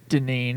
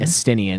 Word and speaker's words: Estinian: Okay, so once that's all settled, you return to Ishgard, deal with a few things, and along with Istinian. Estinian.